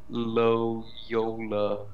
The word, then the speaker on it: Loyola: How do you say that? Loyola? You just said it. Yeah, that's how you do it. YOLO. Loyola.